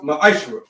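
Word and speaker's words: מעשר: It means tenth in Hebrew, and it's pronounced ma'ashra.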